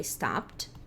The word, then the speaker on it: stopped: Passada é stopped. Stopped. Sem a pronúncia do E, com o som de T.